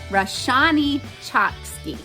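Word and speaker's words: Roshani Chokshi: I am also continuing to finish The Bronzed Beast by Roshini Chotsky. I always say her name wrong. Roshani Chotsky.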